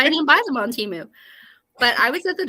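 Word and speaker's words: Temu: the t word is rhymes with emu they do but they're more expensive and that's why I didn't buy them on Teemu but I was at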